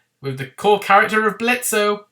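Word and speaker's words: Blitzø: the core character of Blitzo. The O is silent.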